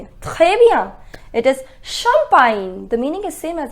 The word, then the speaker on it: champagne: Baigner, ignorer, soigner, mignon, champignon, champagne et finalement signer. Just remember the pronunciation of GN is near en français.